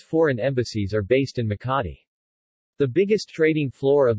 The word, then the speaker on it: Makati: Makati, Makati Tagalog pronunciation, Makati, officially the city of Makati, Tagalog,